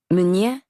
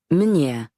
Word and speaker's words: Meunier: Pronounced Meunier or Meunier.